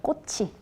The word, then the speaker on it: 꽃이: 꽃이 연음이기 때문에 꽃이 꽃이 아 많이 그렇게 얘기하세요.